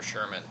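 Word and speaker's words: Schurmyn: very interesting thing because his last name is spelled all weird like some people's first names you guys know about Ashley he's with the gh's and whatnot it's s-c-h-u-r-m-y-n for Sherman that'll be a walk four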